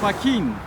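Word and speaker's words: Joaquín: Joaquin, the name Joaquin. It should be, since it ends in an N, it should be accented on the penult, but in truth it's accented on the ultima, so I need an accent on the I of Joaquin.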